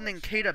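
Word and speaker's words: Nincada: I know it's officially pronounced Ninkata, but it should be pronounced Ninkata. Yeah, I look at the pronunciation. It should be called Ninkata because it's a.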